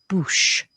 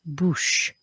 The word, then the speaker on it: bouche: We've got an OU sound and a CH sound with a silent E, une bouche, une bouche.